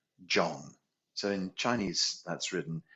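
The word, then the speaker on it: zhong: and then we say John so in Chinese that's written z h o n g but it's kind of pronounced with the d j o n g like Django John okay so we say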